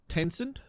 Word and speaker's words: Tencent: um scummy streamers but tencent is that how you pronounce that yeah yeah yeah he's apparently building a